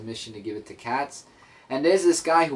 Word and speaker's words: Kaz: So as the issue continues, Laura goes to a Ukrainian place where she has to find Cats, or Kaz, it's spelled K-A-Z, I think I'm saying it right, to give her the watch that Alex gave her.